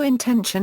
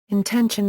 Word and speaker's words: intension: Note: intention and intentionality should not be confused with intention and intentionality, which are pronounced the same and occasionally arise in the same philosophical context.